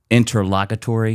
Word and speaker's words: interlocutory: Interlocutory decision. No, okay. So if you just say it again, it's interlocutory. The emphasis on the first part, interlocutory.